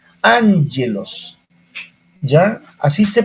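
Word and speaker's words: ἄγγελος: el vocabulario estamos en la lección 7 gelós angelos cuando la la 22 y dos gamas se unen la primera al pronunciar les n angelos angelos ya así se pronuncia angelos por eso alumno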